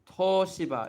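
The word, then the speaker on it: 東芝: But obviously in romanization, you cancel out this character. It gets absorbed into the O. It's like toshiba.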